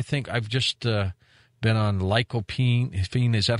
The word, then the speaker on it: lycopene: I think I've just been on lycopene. Is that how you pronounce it?